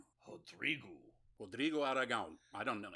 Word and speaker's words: Rodrigo: developed, particularly in Brazil, a lot of words that start with R, they pronounce the R like an H. I don't know why, but it's Rodrigo. And then that, for some reason also that I don't understand, the last O on many words sounds like a U sound. So it's like Rodrigo.